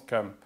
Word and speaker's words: Cham: Et l'Afrique était appelée Kham, ou Cham selon certains, mais qui se prononce Kham.